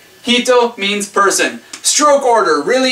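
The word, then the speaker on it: 人: Sorry, just deal with the one one pronunciation. Hito means person.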